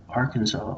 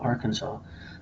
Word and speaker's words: Arkansas: language but think about how how come you pronounce Kansas Kansas and Arkansas Arkansas and the river the a r k a